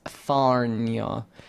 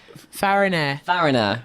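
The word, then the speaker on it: Farriner: It was a baker's shop on Pudding Lane, belonged to Thomas Farnier. Fariner. Okay, you read the actual pronunciation thing, and I was trying to Fariner, read yeah.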